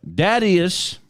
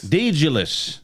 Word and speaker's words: Daedalus: Dadius. His name is maybe I'm saying it wrong. Thaddeus? Daedalus.